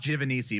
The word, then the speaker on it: Giovanisci: thank you for having me on Kevin it's pronounced jiff and easy that's the closest that anyone's got on the